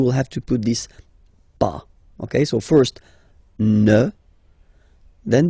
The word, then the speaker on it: pas: have to put this pas. Okay, so first ne, then the verb, and after that, pas. Okay, we write it PAS, okay, but as usual, final S is not pronounced, so it's pas.